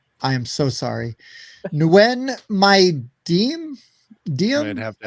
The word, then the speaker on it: Nguyen: Yeah, Nguyen is how you pronounce That's it.